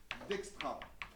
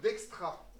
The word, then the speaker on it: Dijkstra: Donc, algorithme de Dijkstra. Si vous voulez vous souvenir comment ça s'écrit, c'est D-I-J-K, comme dans l'alphabet. Et après, Stra, comme ça se prononce pour le coup, d'accord?